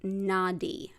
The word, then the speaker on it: Nadi: like to refer to them as they're called Nadi it's spelled n-a-d-i in English and to get them